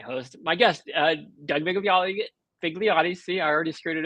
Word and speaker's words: Vigliotti: It's it's Vigliotti. Vigliotti. Okay. Well, I would I would have gotten it correct, but probably mispronounce it, you know, later.